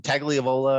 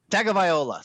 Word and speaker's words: Tagovailoa: Tagliavola or Tagovailoa. Tagovailoa. Thank you.